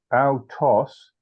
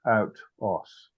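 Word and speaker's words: αὐτός: It's autos, not out-os, is how you pronounce that.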